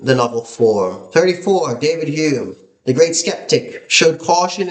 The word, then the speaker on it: Hume: Fun fact, did you know David Hume? Actually, his name was spelled with an O, H O M E, but he changed it to Hume because everyone was pronouncing his name wrong.